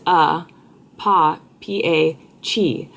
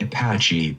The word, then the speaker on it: Apache: Apache. Apache. I thought it was Apachi.